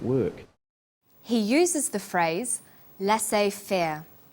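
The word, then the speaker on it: laissez-faire: he uses the phrase lass Fair lass fair is a borrowing from French it closely reflects the pronunciation of the original language and the original spelling do you know the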